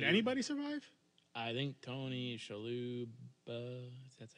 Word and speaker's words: Shalhoub: I think Tony Shalhoub.